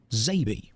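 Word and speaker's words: XABY: Means X-A-B-Y, which would phonetically be pronounced Zabi, and it also refers to the buttons on the SNES controller.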